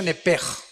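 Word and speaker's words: נפש: Digo, por favor, esta palabra alma en el original hebreo es la palabra nepes. Apúntala como suena nepesh con sh se pronuncia nepej.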